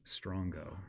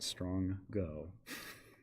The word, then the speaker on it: strongo: came up with, and it is pronounced strongo, not strong go.